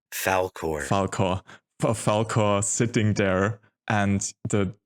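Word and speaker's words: Falkor: What's the English pronunciation again? Falcor.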